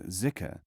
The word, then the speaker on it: dhikr: The word dhikr, pronounced in non-Arab countries as zikr, refers to certain exercises carried out from the beginning of dervishhood.